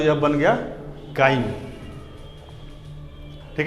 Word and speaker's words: chyme: Spelling English में क्या होगा? CHYME, काइम।